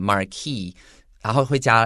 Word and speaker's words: marquis: 老师刚刚提到 legend 这个传说，就基本上这是一个故事，这样一路传下来，我们不知道它的真伪，但是是有人这样子传送下来的。根据这个传说呢，a cruel marquis，这个 s 的话其实是不发音的。好，在这边的话，其实很多时候你可能有听到有人讲 marquis。然后会加 s，我听过人家说 Marquis de Sade, for example, that's the origin of the word sadism.